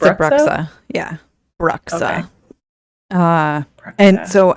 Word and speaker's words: Bruxa: It's a Bruxa.